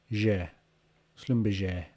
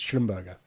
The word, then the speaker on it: Schlumberger: so that that gr is j isn't it je slumberger j slumberger i'm still gonna call it that